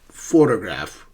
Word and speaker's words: photograph: Photograph. Photograph is a noun, but the first syllable is stressed.